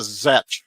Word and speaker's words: Czech: Everyone, and I didn't think about this as a kid, everyone called it the Zech grill.